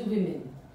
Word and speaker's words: women: woman it changes into women you pronounce it as we but you write it as W key women we say women